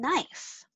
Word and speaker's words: knife: What's the silent letter in knife?